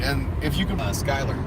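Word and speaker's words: Schuyler: if you can pass Skyler SCH uy l ER Skyler but it's F any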